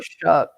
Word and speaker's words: Shough: but it is spelled Shough as well. Right. Where is the C and the K in that name to make it Shuck, like corn?